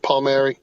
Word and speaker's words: Palmieri: a lot of them have a hard time pronouncing Paul Mar but I most people call me coach pal Mar players call me Coach okay well I appreciate you being here today coach pal Mar um I am excited because I have a